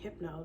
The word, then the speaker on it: Hypno: It's pronounced HYPNO. I know a lot of people pronounce it wrong.